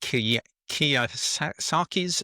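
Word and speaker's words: Kiyosaki: He talks about being inspired by Robert, is it Kia Saki's second chance? Is that have I pronounced that correctly?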